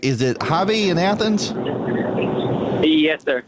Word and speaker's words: Javi: And now I'm going to begin the program with, all right, is it Javi in Athens?